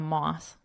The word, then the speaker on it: moth: to sleep, maybe a moth. A moth is not a moth in mother, nor both in bother, broth in brother.